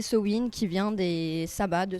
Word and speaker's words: Samhain: voilà c'est ça et du sa main prononcé cewin qui vient des sabats